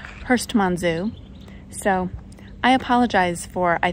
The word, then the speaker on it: Herstmonceux: now okay so I finally asked how to pronounce the name of the castle and it's Hurst Manzo so I apologize for I think saying it